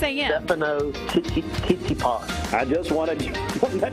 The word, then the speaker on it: Stefano: Stefano Tsitsipas.